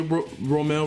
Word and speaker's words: Romel: So for those who misinterpret and said it wrong, it is Romel. Like roll, like the Rome. So it's Rome. Just add the L. So Romel. So that's how you say Romel.